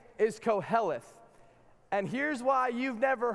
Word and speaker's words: Koheleth: you got to say it's it's actually an ancient hebrew word so i want you to turn to your neighbor in and say it like this like koheleth because that's how they said it back then koheleth some of